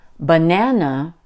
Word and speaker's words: banana: a low note so when I say banana can you hear that the second syllable nan is stronger and higher pitched than the first ba and the last no I guess that's